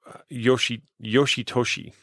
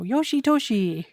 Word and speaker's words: Yoshitoshi: It just sounds, Yoshitoshi, like wishy-washy. You know Yeah. what I mean? For it's just okay. It rhymes too easily.